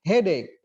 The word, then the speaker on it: headache: Lalu kalau sakit kepala, head bukan AC tapi headache ya.